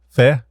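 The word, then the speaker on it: feh: and is that how you say it yeah Fe Fe is a command line image viewer and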